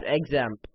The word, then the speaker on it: XAMPP: use something called examp you can also call it zamp and that's how it's supposed to be pronounced however I'll just refer to it as examp what you need to